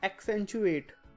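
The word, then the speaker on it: accentuate: पहला है एक्सेंचुएट। इसको प्रोनाउंसिएशन ऐसे करते हैं, जब भी कोई भी डबल आपका लेटर्स हो, मान लीजिए डबल सी है यहाँ पे, तो उसको ऐसे डिवाइड करके पढ़ेंगे, ए सी एक्, फिर आगे सेंचुएट।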